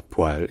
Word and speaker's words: poêle: Et que donc, ça a commencé par être poêle, c'est devenu poil, c'est redevenu poêle, etc. Mais bon, en général, quand même, la plupart des gens continuent de dire poil, et c'est également la prononciation qui est préconisée par la plupart des autorités linguistiques.